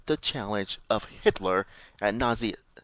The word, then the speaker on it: Nazism: When the country recently faced up the challenge of Hitler and Nazism, not Nazism, Nazism. What's this? I think I pronounced it Nazism.